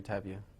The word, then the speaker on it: Tapia: pronounce it just for uh clarification Jeffrey tabia okay and you are a Bakersfield resident yes